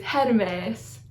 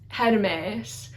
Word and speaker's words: Hermes: Hermes is Hermes, Hermes. So the first E is a short E and the second E is a long E, so like an eh sound. So it's eh and then eh.